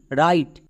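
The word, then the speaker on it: write: ডবউর পরে যদি আর থাকে ডাব সাইলেন্ট। তাহলে এখানে আমরা আর থেকে উচ্চারণ করব। আর এর জন্য রো আই আই এখানে বেসিভ রুলে আছে। তাই আই এর জন্য আই এবং টি এর জন্য টো। শেষের ই সাইলেন্ট। তাহলে এর উচ্চারণ কি হলো? ডবলিউ আর আই টিই রাইট।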